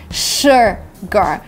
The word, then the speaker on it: sugar: the second letter is you but it's actually sure gar you couldn't just make this fake smile with